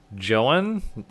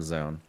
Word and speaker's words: Zoun: And anyway, in the bottom left, I believe his username is actually pronounced Joan? Oh. But everyone calls him Zoun. I was going to say, I'm pretty sure Tastosis calls him Zoun.